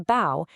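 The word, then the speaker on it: 胞: Here we add the radical for body or flesh to bow and we get bao which is also pronounced bow.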